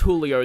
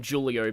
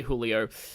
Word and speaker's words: Julio: but like um at least it's pronounced Julio the Hispanic way cuz I used to call him Julio, but um yeah, I've heard people say Julio.